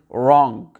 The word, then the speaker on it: wrong: Souvent, j'entends les francophones dire wrong, wrong. On prononce un peu le W comme un sort de ou. Alors que non, on va directement au R. Le W, on l'ignore.